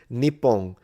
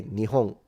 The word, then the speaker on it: Nihon: Nepon. Yeah, you know, nip as a pronunciation exists, but I've never heard it. I I haven't heard it once in Japan. They always say nihong.